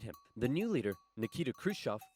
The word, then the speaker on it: Khrushchev: I pronounce Khrushchev. H. Just a clean sound of H. Khrushchev.